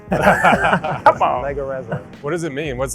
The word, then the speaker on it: Leggerezza: Leggerezza, right? I think it's an Italian name. You have Italian roots, so you tell I'm not me. going to say it with the accent. Come on. Leggerezza.